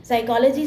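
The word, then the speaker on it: psychology: अब साइकोलॉजी के लिए आप एस नहीं लिखोगे साइकोलॉजी starts with P एंड पी is silent next is disgusted T आई एस टी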